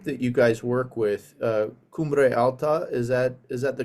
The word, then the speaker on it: Cumbre Alta: So Cumbre Alta started right around the time that we were leaving Colorado or leaving Illinois to come out to Colorado.